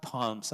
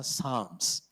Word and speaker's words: Psalms: When you talk about Psalms here, you pronounce it not Palms, Psalms.